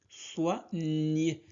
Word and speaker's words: soigner: Soit, GN se prononce nier. Soigner, soigner, soigner les animaux, les animaux.